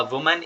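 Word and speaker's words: women: आप जैसे हम्म, अ मैन is going there, है ना, अ वुमन is coming here. अब यहाँ पे आपने बोला वुमन, तो यहाँ पे प्रोनाउंसिएशन भी इम्प्रूव हुई ना, वरना काफ़ी लोग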